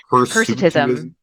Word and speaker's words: hirsutism: I don't know how to pronounce that word. Hirsutism.